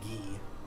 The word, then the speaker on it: Guy: i was mostly joking there is a character with the name spell g-u-y but i'm pretty sure his name is pronounced gee damn can we name